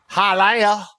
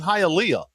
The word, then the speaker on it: Hialeah: And listen to everybody sit there and say, Hialeah. We shot this movie in Hialeah. Like, no, bitch, it's fucking Hialeah. It's an extra syllable.